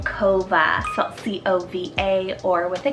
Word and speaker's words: Kova: a great cove alternative i love the name kova c-o-v-a or with a k this is beautiful